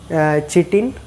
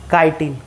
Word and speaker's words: chitin: Some people pronounce it as chitin, but it is chitin.